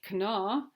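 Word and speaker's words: Kanawha: on this River and this river is the Cana River I have a hard time pronouncing that but it's k a a n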